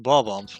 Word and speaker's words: Bob-ombs: Although, yes, it's pronounced Bob-ombs, not I don't know.